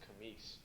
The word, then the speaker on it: Camis: But the way my father's, most people say it Camus, but it's really pronounced Camis, because they're from the West Bank, and that's in Gretna. That's most of my family up there. That's how they pronounce it, Camis.